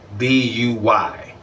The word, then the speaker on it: buy: B-U-Y. The U is silent.